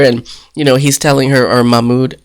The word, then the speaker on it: Mahmoud: They're all looking at each other, and, he's telling her, or Mahmoud, and she calls him Mahmoud. That drives me nuts. Like, say his name in like 2 syllables, not 10.